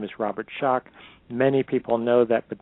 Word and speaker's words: Schoch: to clarify my my last name is Robert shock many people know that but then they want to misspell it and put a K on the end